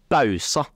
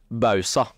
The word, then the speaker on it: Bausa: korrekt uttale på navnet du sier bausa det er feil og det riktige er bausa OK da har vi